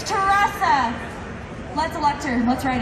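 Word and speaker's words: Teressa: spell it together and it's teresa not theresa it's teresa let's elect her let's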